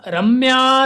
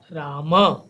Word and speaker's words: राम: इसका उच्चारण होगा पूरा राम। तब हम यहाँ राम नहीं बोलते हैं बल्कि राम।